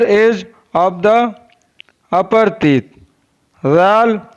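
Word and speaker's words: ذال: Zal is pronounced from the top of the tongue and the inner edge of the upper teeth.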